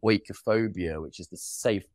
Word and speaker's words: oikophobia: Oikophobia. What's that word? So it's a British philosopher who coined the term from the Greek. You'll hear it pronounced differently by Greek people, but oikophobia is the general pronunciation, and it means hatred